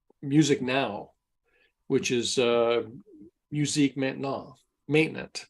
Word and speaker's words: maintenant: It's MUSIQUE with the accent aigu, and then maintenant, it looks like maintenance, MAINTENAINT, and you don't pronounce the T on the end.